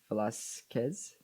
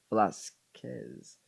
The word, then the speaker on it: Velasquez: Oh, by the way, Velasquez is pronounced Velasquez. The K, the Q-U-E-K, is pronounced like a K in Spanish. That makes sense. Velasquez. Thank you for telling me. I just want to memorize it. Velasquez.